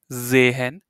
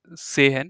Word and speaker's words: sehen: But whenever this s is at the beginning of a word, it sounds like zehen. It's not like sehen, it's zehen.